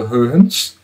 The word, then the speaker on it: Huygens: Já foi explicado que a pronúncia desse nome é problemática, as pessoas acostumaram-se com Huygens, mas o correto é Huygens.